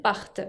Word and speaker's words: partent: Fíjense que acá, como es tercera persona del plural, no pronuncio la ENT, sino que pronuncio bien la T final de la raíz, part. Porque si digo part, sin esa T, sería en singular.